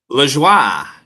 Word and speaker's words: Lajoie: LaJoie.